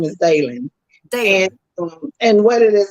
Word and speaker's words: Daylen: associated with the book it's um and it's pronounced one time for david his name is dalen dan and what it is we were introduced